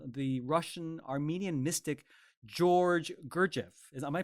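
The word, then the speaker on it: Gurdjieff: songs based on the Russian Armenian Mystic George GFF is am I pronouncing his name correctly that's correct that's right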